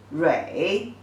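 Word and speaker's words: 蕊: And the pronunciation is zhi, wei, rui, the 3rd tone, rui.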